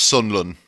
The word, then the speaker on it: Sunderland: Just you got to say it, G, you got to at least say it properly. It's Sunderland, all right?